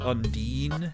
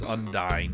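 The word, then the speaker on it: Undyne: I played this game I pronounce that Undine but it is undying because later on there is a pun with her name that would not make sense if you said I'm Dean she's rude loud and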